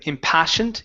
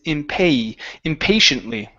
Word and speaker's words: impatiently: Instead of impassioned, it's impatiently. Impatiently.